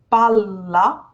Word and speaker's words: palla: We do not in Italian, but we pronounce the L sound for longer. So the first word is palla.